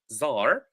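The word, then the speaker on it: czar: so revolutionary com rates Zar that's how we pronounce it we pronounce it Zar leaflet inFAMOUS or inFAMOUS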